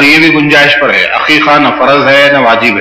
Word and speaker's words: عقیقہ: میں عقیقہ جو کیا، پہلے تو اس کا تلفظ صحیح ہونا جو لوگ حقیقہ بولتے ہوتے، عقیقہ ہے، عین سے ہے وہ۔ عقیقے کا مطلب ہے،